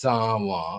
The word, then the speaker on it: San: So it was never pronounced Sanan. Wow. It was always from the beginning pronounced saw or sa as the French would pronounce.